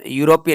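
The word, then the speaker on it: European: mister David is यूरोपियन यूरोपियन या का sound दे रहा है यानी के कंसोनेंट साउंड दे रहा है तो राइट आंसर आएगा ए यूरोपियन ई साइलेंट है या का साउंड है और या एक कंसोनेंट साउंड है तो राइट आंसर है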